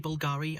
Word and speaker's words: Bulgari: Actually, the reason is that in ancient Rome, there were some Latin characters, and the English letter U was only V.